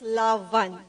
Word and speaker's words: Love-an: manga awaiting page and please take note of the pronunciation it's lavan and also in celebration